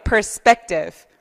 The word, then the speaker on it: perspective: 그래서 perspective처럼 P가 앞에 있고 맨 앞에도 있고 중간에도 있는데 중간에 나오는 P 발음들은 보통 뿌 발음이 나요. 근데 너무 또 과도하게 perspective 이러지 말고 칩하게 그러지 말고 perspective 이렇게 발음하시면 돼요.